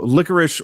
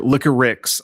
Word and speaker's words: Liquorix: So for those that don't know, Liquorix or Liquorix, I believe, is actually how they spell it and pronounce it.